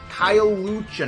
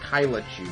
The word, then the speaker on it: Kyle Lucha: Kyle Lucha, not Kyla Chu, sorry.